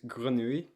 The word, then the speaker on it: grenouille: So, it's grenouille, Oh yeah. grenouille.